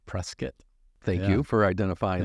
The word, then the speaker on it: Prescott: I am born in Tucson, raised in Prescott, Arizona, not Prescott, Prescott.